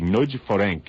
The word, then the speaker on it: Nagy Ferenc: It is pronounced actually Nagy Ferenc. You actually sort of slur the two words. You put the last name first and slur them together, I'm told, by a